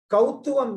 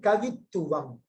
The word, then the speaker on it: Kavituvam: Kautuvam means, now we are saying in a Sanskrit style of pronunciation. It is not a Sanskrit word at all. Please understand it. It is a word from Tamil text. It is called Kavituvam.